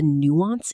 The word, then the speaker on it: nuance: She speaks English beautifully, but she sometimes misses the nuance in sarcasm, which has led to some very interesting conversations. Pronunciation. Nuance. 2 syllables. The stress falls on the first.